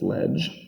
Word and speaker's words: leg: So the rest of them are going to start with leg or ledge. In ecclesiastical pronunciation, it's ledge.